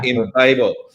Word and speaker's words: Embabel: Well, firstly, I am going to have to u nitpick about pronunciation because in Babel it comes so the name originally is loosely inspired by the tower of babel but particularly via Douglas Adams and you remember the babel fish from hitchhiker's guide to